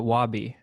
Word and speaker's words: Wabie: nice to actually talk yeah how do you pronounce your name before i say it wrong uh wabi great to officially be be looking at